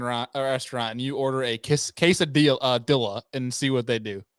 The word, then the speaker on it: quesadilla: So you pronounce the L in quesadilla. Quesadilla. It's quesadilla.